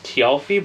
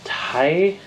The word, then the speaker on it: Tialfi: name of the ship which I thought it was always tii but it was Tai tyi T we'll get